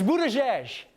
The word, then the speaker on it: Buttigieg: It's "boot-a-jej."